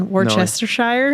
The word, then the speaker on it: Worcestershire: Worcestershire sauce? You say it again. You said it right. Well, now I'm afraid to say it again because I'm going to say it wrong. Right. Worcestershire?